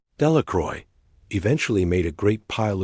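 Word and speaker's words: Delacroix: Bobby and Harry Jones and Dicky Delacron, the villagers, pronounced this name. Delacroy eventually made a great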